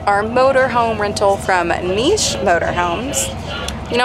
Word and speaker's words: Niche: motor home rental from Niche motor homes you know I personally say Niche but I saw the actual pronunciation on the motor home site so this is niche did you feel it